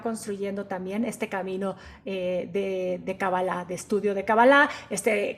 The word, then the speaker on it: cábala: cuestión de fonética ya la palabra en hebreo es cábala pero cuando empezamos con